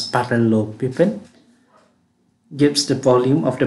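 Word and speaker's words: parallelepiped: of the parallelo pivot so this one is pronounced as parallel piping gives the volume of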